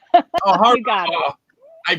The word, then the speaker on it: Horvath: Horvath. Oh, Horvath. You got it. Oh, I practiced it so many times. It's easier than you think. Yes, Horvath. Nanciann Horvath. I was telling her you've been a Horvath, nurse.